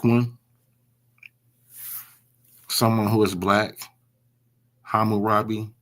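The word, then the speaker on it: Hammurabi: So that word is pronounced ham murapi ham right. So hum or the hum would be uh black or dark. Uh the robi the rob is really so it's it's hamu robbi.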